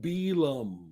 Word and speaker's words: Bealum: Ooh, no, you're not pronouncing it right. Oh fuck! I hate when people do it. All right, please Bealum.